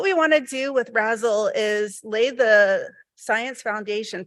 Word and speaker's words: RASSLE: and lunar exploration, or RASSLE for short. It rhymes with dazzle, and you can use jazz hands when you say it.